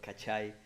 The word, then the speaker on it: Cachai: is Abraham and a host of podcast called cachet Australia oh that's how you say it there